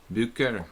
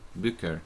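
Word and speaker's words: Bücker: I don't know how you pronounce it. B-U-E-C-K-E-R. Bucher, like that. Bucher, probably.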